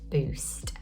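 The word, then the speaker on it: Buist: across a woman called Stephanie boost I believe it's pronounced like that b-u-i-s-t and she had had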